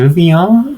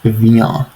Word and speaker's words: viens: viens, but it's pronounced viens. Viens. And notice how the ah sound is nasalized. You have to make it a nasal sound for the pronunciation to be correct. So it's viens.